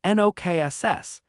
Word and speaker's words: Nox: The pronunciation is NOKSS, and your wand movement is a wave. He demonstrated. I then, with the Lumos spell still in effect, cast the counter-enchantment. Nox!